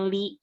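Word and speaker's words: لِ: setelah ya setelah huruf lam tapi itu dibacanya dibacanya Li ya Jadi bukan la tapi dibacanya Nah selanjutnya itu ada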